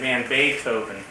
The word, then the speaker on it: Van Beethoven: Van Beethoven. Not Beethoven. What did I say?